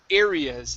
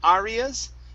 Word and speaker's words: areas: word for you is areas instead of arias it's airy areas areas okay all right very